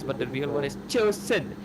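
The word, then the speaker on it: Zhuxin: No, the proper pronunciation is supposed to be like the Chinese, like the Mandarin, or you can also go Cantonese, but the real one is Chosen.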